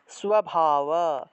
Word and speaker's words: স্বভাব: স্ব, তাহলে স্বজানা, স্বজানা, স্বভাব, স্বভাব, দন্তেশ্বরের নিচে বফলা থাকলে সুয়া উচ্চারণ, তাহলে স্বভাব, স্বভাব।